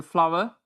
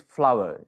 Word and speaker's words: flour: The actual word is flower. FLOUR has to be pronounced as flower, as we call flower the things that blossom in trees.